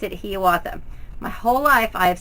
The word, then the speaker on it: Hiawatha: It is pronounced with a long E sound, Hiawatha.